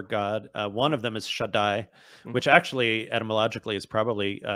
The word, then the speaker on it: Shaddai: that sort of the biblical God is a shed. Is that how you say it? Yeah. So one of the names the Bible has many names for God. One of them is Shaddai, which actually etymologically is probably connected to breasts.